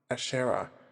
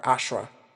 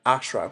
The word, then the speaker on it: Ashera: Ashera or Ashra. I don't know why I keep pronouncing my own name wrong. I think because I live in the UK and that's what people say. They just say Ashera.